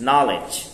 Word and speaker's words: knowledge: Knowledge knowledge knowledge knowledge silent ke silent knowledge langsung ke n-nya n gak knowledge ah